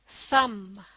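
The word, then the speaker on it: thumb: एच यू एम बी, थम, थम। इस लफ्ज में लेटर बी साइलेंट है, यानी इसे लिखा जाता है लेकिन पढ़ा नहीं जाता।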